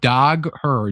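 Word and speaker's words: Dagher: Wizard knows Shawn Dagger. I do. And also it's it's it's spelled dog her. D A G H E R. Um but I I know Sean Doga he told me that I was of the channel.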